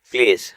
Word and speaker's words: please: PLEASE প্লিজ অনুগ্রহ করে। এখানে শব্দ শেষে ই লেটারটি সাইলেন্ট থাকবে, কিন্তু এল এর পরে ই লেটারটি উচ্চারণ হবে।